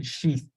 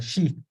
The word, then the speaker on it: sheath: okay so this sh so you have to say sheath uh with the th at the end you have to pronounce a TA remember put your tongue in between your your uh your your teeth so it's a sheath okay and then we